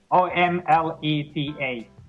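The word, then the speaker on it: omletă: How do you say omelette in Romanian? Omelette. Omeletta. Omelette. Oh. Yeah. Omleta.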